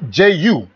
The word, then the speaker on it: Gyu: well is it Gyu how do you pronounce that you soju like Joo Ju okay uh-huh all right